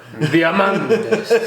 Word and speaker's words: Diamantes: You just have to say it like a matador. Diamantes.